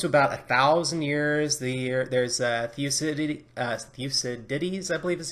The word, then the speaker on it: Thucydides: When it comes to about 1,000 years, there's Thucydides, I believe is how it's said.